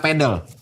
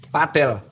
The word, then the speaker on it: padel: Terus olahraga pedel. Padel bacanya bukan padel.